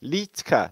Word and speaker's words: Liedtke: moonbeam actually killed there litka silent d e on the end for the silent d this is not this